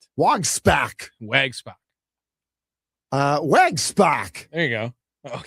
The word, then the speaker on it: Wojczulis: And Jacob Wojczulis, non-roster invitee, unscored upon in 6 relief appearances. You will never say his name correct. Wojczulis.